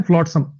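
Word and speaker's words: flotsam: फ्लॉटसम, फ्लॉटसम, इसकी प्रोनाउंसिएशन है फ्लॉटसम।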